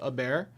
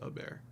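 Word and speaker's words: Hebert: To help you in the future, Bobby Herbert's last name is pronounced a bear. He's a Louisiana boy from the bayou. Uh, Herbert. Bobby Herbert's last name is a bear.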